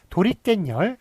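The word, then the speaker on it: 도리깻열: 자, 43페이지 보시면 예를 보시면 도리깬열, 도리깨와 열 두 개가 합쳐졌는데 이게 발음이 도리깬, 깬에 니은 붙고요. 열 뒤에 니은이 덧붙습니다. 그래서 니은이 덧붙는 거예요.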